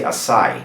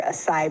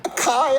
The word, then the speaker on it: açaí: It's gotta be acai. The emphasis on the last syllable, which is the E sound, right?